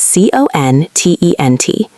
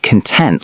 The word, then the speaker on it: content: But let's look at content. This is c o n t e n t. Not content like internet videos. No, the pronunciation changes.